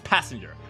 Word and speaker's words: passenger: No, it's passenger. Right. It's the word pass is pronounced pass, but the word passenger is pronounced passenger.